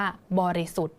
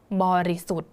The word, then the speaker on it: บริสุทธิ์: อิ แล้ว ก็ ถธ ดัง นั้น พยัญชนะ แล้ว ก็ สระ ตัว นี้ นะ คะ ก็ จะ ไม่ อ่าน ออก เสียง ค่ะ เรา นะ คะ ก็ จะ อ่าน ออก เสียง ถึง เพียง แค่ นี้ นะ คะ นี่ ทอ ทหาร เรา ก็ จะ อ่าน ว่า บริสุทธิ์ บริสุทธิ์ เห็น ไหม คะ เรา ก็ จะ หยุด เพียง แค่ ตัว ท ทหาร เท่า นั้น นะ คะ